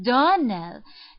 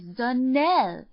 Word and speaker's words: Donnell: she pronounced our name Donell now Miss Shirley the correct pronunciation of our name is Dell Accent on the last syllable I hope you'll remember